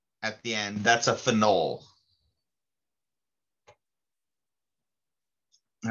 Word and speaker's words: phenol: we refer to as phenols a phenol and you kind of over emphasize the o in phenol to differentiate it between when you have